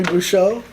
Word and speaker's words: Bouchot: Henry Bouchot, who's running in District 2.